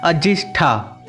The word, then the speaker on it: अजिंठा: यहीं पर अजंता से 2 मील की दूरी पर अजिंठा नाम का गांव है, जिसका मूल उच्चारण है अजिष्ठा।